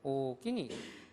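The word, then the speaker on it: おおきに: 일본 도쿄 사람들은 아리가또 고자이마스 하는데, 오사카 사람들은 오끼니. 어떻게 들으면은 크다라고 하는 말, 오기라는 말로 쓰는 것 같은데, 이상하게 간사이 사람들은 오끼니군, 고맙습니다. 그럴 때도 마찬가지로 오사카처럼 이렇게 길게 장음으로 발음을 한다라는 걸 보시기 바랍니다.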